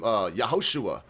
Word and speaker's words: Yahushua: They would have called him Yahushua or Joshua is how to say it now, but it wasn't even Jesus.